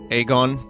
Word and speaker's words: Aegon: Game of Thrones in you know it's spelled AE gon Aegon Aegon Targaryen however it's pronounced egg so there's like the